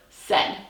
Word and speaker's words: said: what happens when we slow down and stretch out our syllable for our word said here we go s ed what sounds are you